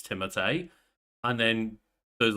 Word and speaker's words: Timothée: Yeah, and that was one of those where that I saw people talk about the fact like, well, no, technically his name is not Timothy, it's Timothée.